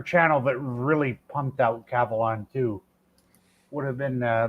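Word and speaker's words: Kavalan: Cavalon. Is it Cavalon or Cavalon? Cavalon. Cavalon. Oh, K A V A L A N. Yeah.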